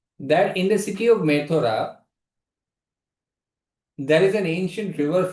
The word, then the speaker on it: Mathura: He says, I am aware of a city by the name of Methora.